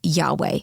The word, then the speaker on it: Yahweh: is is written uh spelled YH wh and probably pronounced Yahweh we don't know if this is the way it was pronounced at the time because the Hebrews did not use uh vowels they only use consonants but the name can